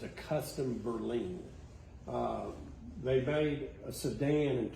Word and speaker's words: Berline: called a custom berlin it's going to be r-l-i-n-e but it's supposed to pronounce in berlin um it's the same